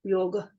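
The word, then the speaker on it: योग: The correct pronunciation of this word is yoga. There's not a big A at the end. In Sanskrit, it's a small A, yoga.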